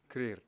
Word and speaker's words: Krüger: event is very special we're joined by krier uh is that the correct pronunciation career yeah um and uh here's South African born